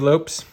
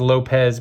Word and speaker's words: Lopes: Bob Nepper, Dave Lopes. You always think his name was Lopez, but because of the S, it's pronounced Lopes.